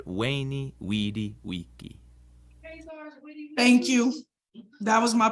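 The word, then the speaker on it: veni, vidi, vici: The V in Latin is pronounced like a W sound. So Caesar's famous saying isn't veni vidi vici, but veni vidi vici.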